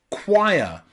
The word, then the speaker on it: choir: Another way we can pronounce O and I is ire in choir, choir. A choir is a group of people that usually sing in a church, choir. So here, O and I is pronounced ire, choir, okay, choir.